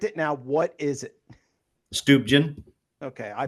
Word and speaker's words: Stuebgen: Stuben. Okay. I pronounce it right so I'm good.